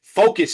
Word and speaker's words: Phocus: Focus is spelled P H O C U S and project in this case is P R O J E KT project baby.